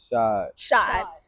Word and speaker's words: Shad: Shod.